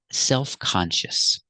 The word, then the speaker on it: self-conscious: this word this is self-conscious again we're going to keep the stress on con self-conscious self-conscious self-conscious is